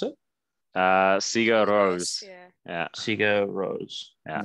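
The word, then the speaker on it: Sigur Rós: space oh yeah yes yeah how do you pronounce it uh sega rose yeah sega rose all right um listen to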